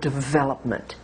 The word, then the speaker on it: development: example is the word development in American English we stress the second syllable V now stress again